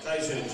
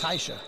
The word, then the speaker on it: Tasia: Tasia Jackson. See, he even said her name wrong. First team. You know, He said Taisha.